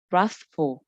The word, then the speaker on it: wrathful: Ở đây cái chữ wrathful này mọi người lưu ý là cái chữ W này tuy nó viết là W nhưng mà mình không đọc là W. Không có cái âm W ở trong đó ha. Mà nó sẽ bắt đầu từ cái chữ letter R này luôn.